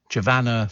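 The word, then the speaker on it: Giovanna: these sort of places giovana Fletcher rhymes with Savannah javanna Fletcher all right she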